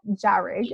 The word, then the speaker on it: Jahrig: So Jahrig is how you say your last name, right?